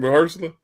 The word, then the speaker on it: Mahershala: That's how you say his name, Mahershala.